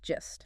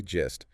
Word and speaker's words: gist: Pronounced gist. Yes, soft G, gist.